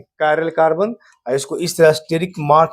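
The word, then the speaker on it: chiral: सी एच आई आर एल। ध्यान रखिएगा। उसका इसका उच्चारण किया जाता है। कायरल क्या पढ़ते हैं?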